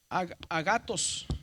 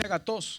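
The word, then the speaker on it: ἀγαθός: Pero acá está el acento. ¿Por qué no dice agatos? Bueno, porque cuando dividimos en sílabas a GS, pero lleve aquí un acento grave. Este va a disminuir, entonces este va a aumentar es a gatos.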